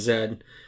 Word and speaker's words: zed: love that it's called zed a little bit of background i spent some of my youth living in australia and always found it fascinating how they pronounce z's because it's always zed and um i just